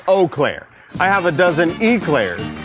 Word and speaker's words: Eau Claire: By the way, Doug, it's Eau Claire.